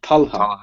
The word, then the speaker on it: Talha: like to welcome T tala is that right hello feure hi am I pronouncing your name correctly talah Talha yeah Talha T Talha okay great where are